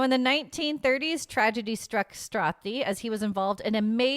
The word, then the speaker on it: Strathdee: I didn't even know how to spell Canadian or pronounce Strathdy or Strathdy. What do you think? It's just ATH. STRATHDEE. I would say so Strathdy.